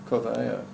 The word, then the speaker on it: Carvalho: Carvalho. I'm trying to say it in sort of a Spanish, but it's not. It's Portuguese. And it's Portuguese.